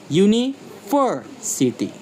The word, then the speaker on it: university: University. Here we see it all. Primary stress on ver and lighter secondary stress on the first U.